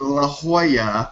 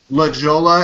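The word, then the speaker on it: La Jolla: when you were talking about Leola which is pronounced La Hoya which is Spanish for the jewel so obviously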